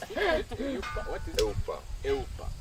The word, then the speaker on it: 'eUPA: How do you pronounce it? eUPA.